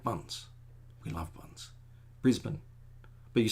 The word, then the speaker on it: Brisbane: And then Brisbane is Brisbane, even though it's spelled Brisbane. But if it was really Brisbane, there'd be an I in there. So we just say Brisbane. Again, it's with the bun.